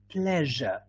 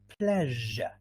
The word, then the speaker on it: pleasure: right okay so it's pronounced the same as pleasure in fact these words are two rhyming words treasure pleasure good all right we've